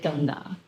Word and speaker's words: Ganga: Now, Australians pronounce it as Ganges. Mohini will call it something else. Yeah, we call it Ganga.